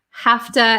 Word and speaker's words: have to: on the youtube channel hafta and to okay i have to get going i have to get going so have to have to the v sound changes to an f i have to have